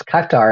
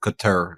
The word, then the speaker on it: Qatar: In fact, final point is Qatar has now said, we're not so sure ourselves.